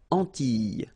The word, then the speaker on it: Antilles: So final S and E, really you don't pronounce them. So you get this E sound. Antilles.